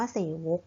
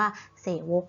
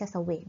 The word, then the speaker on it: เสวก: นั่น เอง ดัง นั้น คำ นี้ และ อ่าน ว่า เศษ วก นะ คะ ไม่ ใช่ เศวต ง้อ นั้น ก็ เรา